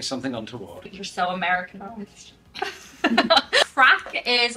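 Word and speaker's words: craic: Crack.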